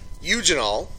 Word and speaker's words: eugenol: Alright, if we look at the next problem here, we are told eugenol, that's how you pronounce that, eugenol, is a main component of olive oil.